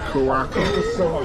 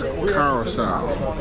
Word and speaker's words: Curaçao: I was saying it wrong for the longest. Now, you know, we look at it and say Curacao. But it's not Curacao, it's Curacao. Yes. Curacao, uh the Let me let me say the uh the C is really like say what that is. Yes, that last C is like an Last C is like an S.